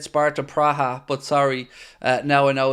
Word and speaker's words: Praha: Sparta Praha are the is the correct colloquial, if that's the right word, pronunciation. But I just know them as Sparta Prague.